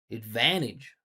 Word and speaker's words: advantage: Make sure you're not saying ad. I'm using a schwa. I'm saying it. Advantage.